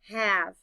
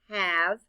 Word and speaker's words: have: Have. Look at the letters in the word. Let's spell it out loud. H-A-V-E. The letter A stands for the short A sound. Ah. The E is silent.